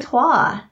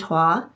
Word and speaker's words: Troyes: I say toi. Toi? Toi. It's a French word.